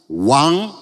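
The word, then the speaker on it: 王: Bacanya ya. Yang bawah yang merah, raja. Wang.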